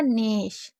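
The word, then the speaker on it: gnaw: नेश। ये क्या हो जाएगा? नो, क्योंकि ए डब्ल्यू को ओ पढ़ा जाता है, तो ना पे ओ की मतलब नो, और जी हमारा साइलेंट है।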